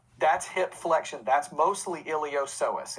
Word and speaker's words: iliopsoas: muscles that help the hip and leg the iliopsoas is how you pronounce that one um iliopsoas is your major hip flexor it's your major